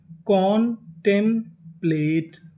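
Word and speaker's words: contemplate: आपको एक नियम याद रखना है, अगर आपको किसी भी मीनिंग के आखिरी में ई लिखा मिले तो हम लोग ई का उच्चारण नहीं करते, हम लोग ई से पहले तक का उच्चारण करते हैं। तो मीनिंग क्या बनी? कॉन्टेम्प्लेट, कॉन्टेम्प्लेट, कॉन्टेम्प्लेट।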